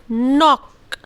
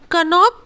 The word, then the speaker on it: knock: सो उसी तरह KNOCK, we call it नॉक, we call it नॉक। कनॉक कभी नहीं बोलते हैं, वी कॉल नॉक।